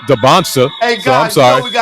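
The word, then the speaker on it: Dybantsa: I've been saying Dancer all this time and it's pronounced Debonsa.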